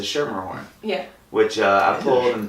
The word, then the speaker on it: Schermerhorn: That was you hit the C hard on that, which most people do until someone that works there corrects you. I practiced before. It's a soft C. It's a Schermerhorn.